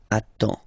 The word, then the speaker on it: attends: You get D and S. Well, basically you don't pronounce them. Okay? And then you get only the sound attends. Nasal here. En.